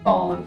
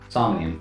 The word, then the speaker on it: Somnium: Fallen files. Am I pronouncing that right? No, there's no L in there. Some Somnium files. Not sure why I keep adding an L into that.